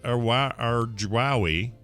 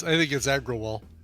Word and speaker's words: Agrawal: Over the last 2 weeks, a joke fired off by Coin Center's Niraj Arjwawi Yeah, I think it's Agrawal. I thought that L was an I.